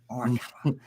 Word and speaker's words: Morikawa: Morikawa or all the other There is an mispronunciations A that I on do, the end of it, not an I. So Morikawa. that's a little different. Yeah, I'm working on it. Morikawa.